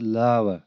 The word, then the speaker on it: lava: हम इसको lover pronounce करते हैं बट इट्स lava.